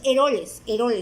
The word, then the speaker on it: Eroles: Es de varios autores, creo que el compilador de esa información de esos autores es Carlos Elores, algo así se pronuncia su apellido, Carlos Eroles se pronuncia el apellido.